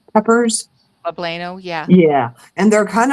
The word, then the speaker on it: poblano: Like I had this I don't know how you say it, plabano peppers. Poblano, yeah.